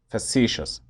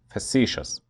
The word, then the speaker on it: facetious: It's pronounced facetious, facetious.